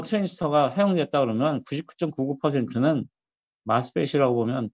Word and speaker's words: MOSFET: 인제 이걸 읽을 때 MOS니까 MOSFET 이렇게 읽는 사람도 있고 나는 마스펫이라고 읽어요. 마스 혹은 이제 모스펫. 모스펫 할 때 모스는 오 발음을 그냥 우리식으로 그냥 발음한 거죠. 모스펫. 마스펫은 오 발음을 영어식 발음. 어와 아의 약간 중간 발음이죠. 그걸로 이제 마스펫이라고 이렇게 얘기를 합니다.